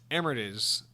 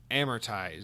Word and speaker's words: amortize: a side note it's emirates which is gradually right off the initial cost so the word is amortize so i was i was a i was definitely pronouncing that wrong the word amortize is